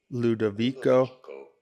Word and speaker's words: Ludovico: How do you go about pronouncing it? Ludovico Einaudi. Ludovico Einaudi.